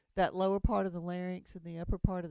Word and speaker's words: larynx: your larynx here's your larynx that's pronounced larynx not lair NYX by the way larynx